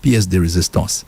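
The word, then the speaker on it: pièce de résistance: So, it's pronounced piece de resistance. So, back in the day we had the piece de resistance, which means the best part of a meal,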